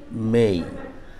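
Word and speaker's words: May: অবশ্যই মে হবে না উচ্চারণটা যেহেতু শেষে এ আছে এবং ওয়াই আছে ওয়াই টা ই নিচ্ছে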